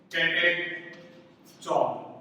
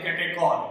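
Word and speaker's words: catechol: इसका common name है कैटेचॉल। कैटेचॉल, कई बार इसे बोला जाता है कैटेकॉल, क्लियर।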